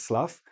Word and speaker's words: slough: There's a lot of weeds and lots of plant in it, and it's very thick, but that's another word for that is slough.